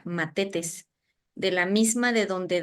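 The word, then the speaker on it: μαθητής: de un de una palabra griega que se pronuncia matetes de la misma de donde deriva mártir y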